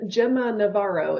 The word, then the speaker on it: Gemma Navarro: And you just pronounced your name Gemma Navaro.